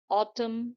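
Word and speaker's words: autumn: ऐसे ही जब भी किसी स्पेलिंग में एम के बाद एन आता है तो वहां पे एन जो है वो साइलेंट हो जाता है। जैसे कि हिम, कॉलम, ऑटम, सोलम।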